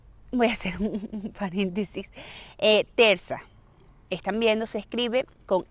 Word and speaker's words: terça: Cuando aparece esta C, se pronuncia como S, es decir, terza, normal, como S. Porque si fuera una C normal, sería K, terca, ¿ok?